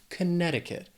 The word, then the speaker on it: Connecticut: This is another one where the spelling can throw off the pronunciation a little bit if you're trying to say it how it's spelled. But Connecticut has 4 syllables. The stress is on that second syllable.